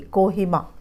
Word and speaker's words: Kohima: इसको पढ़ना भी सीखे, कोहिमा, नागालैंड, कोहिमा।